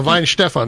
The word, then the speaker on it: Weihenstephan: No, Weihenstephan. That's where I went to school. That's it. Yeah. Weihenstephan. Weihenstephan. It's the Technical University of Munich at Weihenstephan, and it's the oldest brewery in the world.